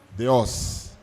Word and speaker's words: Deo: A pronúncia do nome da professora não é fácil. Como é que fala? Deus.